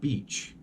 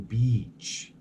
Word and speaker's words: beach: you say incorrect but this just make that drag sound it drag it out a little bit listen beach beach I'm going to the beach those double vowels extend that stress and extends the sound so we got a